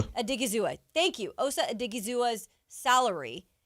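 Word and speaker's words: Odighizuwa: 49ers converted 14 and a half million of OC OSA's I don't want to say his name because Adigua Adigazizua thank you Osa Adigazizua's salary to a into a signing bonus.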